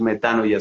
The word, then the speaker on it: metanoia: Entonces fíjate cómo la metanoia, o metanoia pronuncian otros, pero creo que es más correcto decir metanoia en el griego.